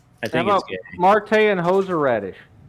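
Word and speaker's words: Martae: Marte. Perfect. Cheers. I just wanted The reason why I have it spelled like that is so that way people can say my name correctly.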